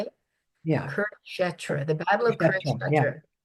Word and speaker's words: Kurukshetra: Kurukshetra, the Battle of Yeah.